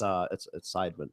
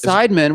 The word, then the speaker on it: Seidman: It's Seidman. Yes. Seidman. Why'd you say it wrong? You I didn't- always say it wrong. first He's off, cipher in the side. No. Because you talk with that black accent. No. See, now you're trying to blame it on my whole time. You said cipher.